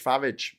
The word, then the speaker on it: Farage: And yes, I pronounce it like Garage Farage.